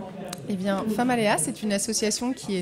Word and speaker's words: Femaléas: Alors, on est avec Virginie et Laurence de l'association femme Aléa. J'ai bien prononcé. Tout à fait. Alors, qu'est-ce que c'est que cette association ? Et bien Famalea, c'est une association qui est née de la